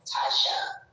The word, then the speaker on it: Tasha: Such a beautiful name is Tasha. That's how you pronounce it. Tasha.